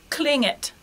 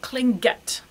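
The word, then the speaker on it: klinget: okay and let's see cling it cling it so not cling get no hard Gene there okay so that repeats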